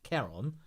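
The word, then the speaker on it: Ciarán: I know people say Kieran, but apparently it's pronounced Charon. So if I do get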